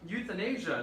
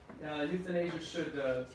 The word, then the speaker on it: euthanasia: And by the way, it's pronounced like youth in Asia. That's how you pronounce that word. Crazy, yeah, just like young people in Asia. That's how you pronounce it.